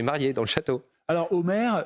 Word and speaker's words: Homair: Alors, Omer est une entreprise française, je le disais, depuis 35 ans. Ce nom, pourquoi ça s'écrit H-O-M-A-I-R, hein, mais ça fait penser à l'Iliade et l'Odyssée.